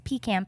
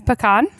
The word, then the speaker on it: pecan: say pecan it's a pecan pie but uh nope i have to disagree it is pecan and we would like